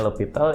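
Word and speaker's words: L'Hôpital: Tulisannya L'Hospital. Jadi bacanya L'Hopital, ini orang Prancis, dia menemukan metode mencari nilai limit fungsi dengan cara turunan.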